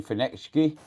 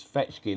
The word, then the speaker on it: Feechki: bro uh Jack yeah it's not uh you're saying phoenix key it is fetch key there is no n in the word Peach key I think